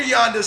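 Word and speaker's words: Janda: is what yand Vladimir Yanda check out some of his information he's a world renowned physical therapist last name is pronounced J NDA uh talks about the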